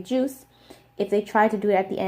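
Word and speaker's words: 주스: But the reason why it's pronounced like this, juice, is because whenever shiot is the final consonant in a word, it is actually pronounced like digut.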